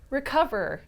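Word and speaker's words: Recuva: is puriform purforms Rua or as they say it is pronounced recover even though it totally doesn't lookover Rec like you're from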